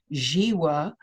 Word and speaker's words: Zhiwa: He is Zhiwa, and the first name is spelled Z-H-I-W-A, pronounced Zhiwa, and he's an earth